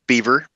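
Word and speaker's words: Biewer: and a half old Beaver terrier and yes it is pronounced Beaver like the the furry animal um it is spelled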